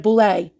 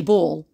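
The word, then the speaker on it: Boulle: surfaces are made of Boule tortoise uh tortois shell or it's actually bull it's pronounced I apologize papier-mâché ivory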